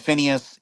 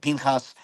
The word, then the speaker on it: Pinchas: name, what's popularly said Phineas, and now it's and as per the Masoretic pointing, it's pronounced Pinchas.